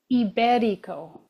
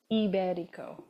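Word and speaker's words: Ibérico: asking my kids, okay, how would you pronounce this name given where the accent is? Oh, I said that wrong completely now. It's Oh. Iberico. Iberico. Now I'm remembering. So, anyways, I had it completely wrong. And they were like, Mom, the name for the accent is on the E.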